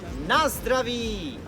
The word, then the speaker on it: Na zdraví: So the way we say cheers is the middle syllable. Oh, you got the most important word now. Cheers. So the middle syllable is letters Z, D, R, A. Zdra. Zdra. then begins with na, N-A, na, ends with the letter V. Together you have Na zdraví.